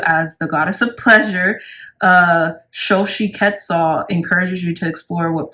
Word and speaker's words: Xochitl: Yeah, and how you pronounce the number 12 goddess is Xochitl. Xochitl, okay?